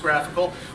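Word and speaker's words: GraphiQL: we start with clients graphical graph iql graph pronounced graphical will probably be your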